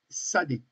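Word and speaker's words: tsadé: Alors c'est la lettre sad. Alors, elle est difficile à prononcer, hein, parce que le T est est avant le S. T il faut dire le T et le S après.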